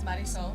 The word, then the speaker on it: Marisol: Again, it's Marisol. Marisol. If you can roll your R's.